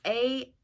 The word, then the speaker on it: Angharad: So she's obsessed with this book called Angarhad. I don't know. I can't pronounce it. It's Angharad.